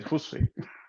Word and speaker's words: Jussi: should pronounce it correctly, with the J sounding like a Y in Spanish, but no, they sound it's more like an H, so they say like Jussi.